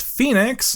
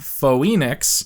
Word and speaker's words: Phoenix: trip Sam corrects cat that the city is pronounced Phoenix not fo Enix but cat doesn't care as she wants to